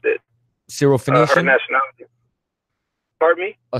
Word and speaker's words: Syrophoenician: You just said you pronounced it. Syrophoenician.